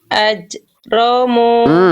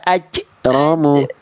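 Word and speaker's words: أجرموا: Udah bagus yang itu, tapi sekarang suara pantulannya dikondisikan. Suara pantulannya di ujung pelafalan mantulnya itu jangan tertahan. Contoh, Bunda udah nggak basah, nggak aje, sekarang udah aje, tapi bunyi pantulannya itu ada henti di ujung j-nya. Contoh, ajromu.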